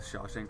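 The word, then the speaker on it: Shawshank: spell it out the Sha Shank Redemption okay sha shank sh Shaw like Mary Shaw Shank like I'll freaking shank you oh okay and then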